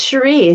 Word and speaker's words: Cherie: pronouncing your name correctly is it cherie OU cherie it's cherie thank you very much